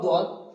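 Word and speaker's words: ض: তারপর আছে সদ, সদটা উচ্চারণ করতে হবে সদ, দদ, এই দুটো অক্ষর এখানে এঁকে দিয়েছি দেখুন।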